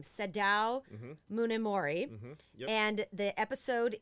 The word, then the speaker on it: Munemori: Now, I want you to help me pronounce this person's name, Sadao mm-hmm. Munemori.